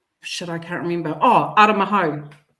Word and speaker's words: Aramahau: game, he said, actually, I've just been told that his name is to be pronounced Aramaho. Oh, Yeah. nice. Yeah. Oh, that's yeah. cool. So he actually, and he said it live too when he was calling it. He was like, it's actually Aramaho, Nice.